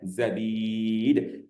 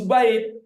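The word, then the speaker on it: زبيد: zubaid tapi zabid ya zabid bifath zh fatahain zainnya difatahkan kasril Ba nah zabid awalnya awak terkecoh itu zubaid ternyata bukan ah di sinilah seorang penulis buku ya karena orang yang membaca itu membacanya dengan zubaid sebag eh contohnya zubaid Nah di sinilah penulis buku menjelaskan itu bukan zubaid dibuatlah tanda kurung wril ba Oh zabit ini bukan zubaid nah gitulah dia ya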